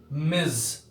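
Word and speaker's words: Ms.: Actually इस word का सही उच्चारण है ये मिज।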